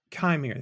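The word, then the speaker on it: Qimir: This is Manny Jacinto as Khmer, yeah, I think that's how you pronounce and it. Chimere? Chimere.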